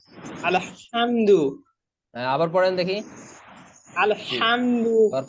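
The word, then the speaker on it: الحمد: আইন জবর আইন আইন জবর আইন জবর আলহামদু হামদু হয়ে যাচ্ছে আলহামদু এটা হামদু না আলহামদু আবার পড়েন দেখি আলহামদু আবার পড়েন আলহামদুলিল্লাহ আলহামদুলিল্লাহি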